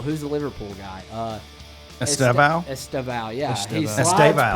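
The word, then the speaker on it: Estêvão: How do you pronounce this guy's name again? Or Liverpool. Who's the Liverpool guy? Estevao? Estevao, yeah.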